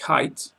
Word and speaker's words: height: Weight's like weight, but not like height, which should always rhyme with might.